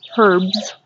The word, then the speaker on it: herbs: And then we have herbs, or herbs, depending on how you say it, in a little strawberry pot.